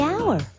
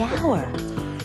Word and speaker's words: hour: The hour. Wait! H is not a vowel sound. It's a consonant sound. But it's not the first sound. The H is silent. The hour.